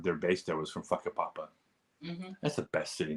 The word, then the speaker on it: Whakapapa: makes sure that you know that the correct pronunciation is whakapapa it's a great city name it's actually the